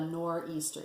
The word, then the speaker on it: nor'easter: But the storm is called a nor'easter, so NOR''EASTER.